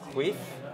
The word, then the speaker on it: chwyth: left is chwyth, and chwyth rhymes with teeth.